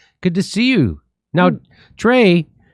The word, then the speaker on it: Drea: Now, Drea, your name is spelled Drea. But it's short for Andrea, but everybody calls me Dre. Oh, everybody just calls you Dre. When people don't really know me, they call me Drea.